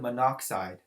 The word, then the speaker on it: monoxide: So that's going to be carbon monoxide. Notice it's not carbon monoxide. When your prefix has two syllables for oxygen, the last letter will be dropped out.